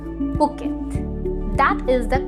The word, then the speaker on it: Phuket: लेकिन इस सिटी को हम फुकेट नहीं बोलते, इसे हम कहते हैं पुकेट, पुकेट। जी हाँ, नॉट द फ sound but the p sound, Phuket.